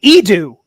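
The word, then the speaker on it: Eadu: weapon in when he left the ship on edo in rogue one did i say that planet's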